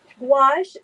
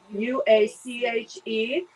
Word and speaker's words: gouache: Gouache, so it's spelled funny. It's Gouache, and it's a paint that is, I'm trying to think, It's a very organic, very earthy, basic, traditional paint.